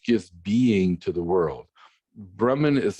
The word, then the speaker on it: Brahman: wave ocean analogy right either brahman or brahma or brahma some people say it that way right it's just a short a at the end and then brahman is